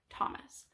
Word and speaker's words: Thomas: we talk about how the H is silent in the word Thomas okay so here's my